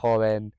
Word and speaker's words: joven: Obviously in Spain, they pronunciate the G and the H sounding words with like a ch. So for example, gente or joven, those kind of words they pronounce with that sort of scrapey thing at the back of the throat. I don't really know how to describe it, but it's a bit harsher sounding.